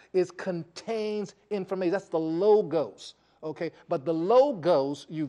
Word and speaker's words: logos: The logos, L-O-G-O-S, and pronounce logos.